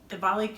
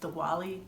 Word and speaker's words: Diwali: kicks off Diwali, and Diwali can be pronounced two ways, Diwali or Diwali. The W in Sanskrit can be pronounced a V or a W, so if you hear it both ways, it's both correct.